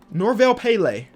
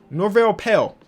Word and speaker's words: Norvel Pelle: what's that guy named Norville Pele it's coming cincy Norvel Pelle that's his name pal I always add an extra syllable to his name for some reason and make him a